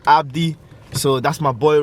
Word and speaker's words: ABD: So Yeah, ABD. That pronounces as Abdi.